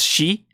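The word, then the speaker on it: シ: This is shi.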